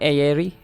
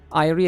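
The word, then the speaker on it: Airi: Wait, you pronounce this as Irie? Not Aerie? Irie as in A-I-R-I.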